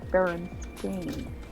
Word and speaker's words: Berenstain: Pronounced Berenstain.